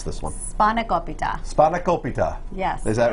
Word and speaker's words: Spanakopita: How do I pronounce this one? Spanakopita.